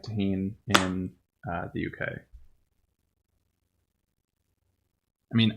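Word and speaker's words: Tajín: So it's spelled Tajin, but it is a Mexican spice. So I'm assuming it's pronounced tahin.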